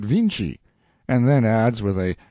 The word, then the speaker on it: Vinci: own tongue he says they spell the name of their great painter viny but pronounce it Vinci and then adds with